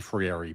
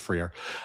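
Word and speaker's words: Freire: I I I always get his name wrong, but I think it's Friier. It might be Frieri, but I think it's Friier.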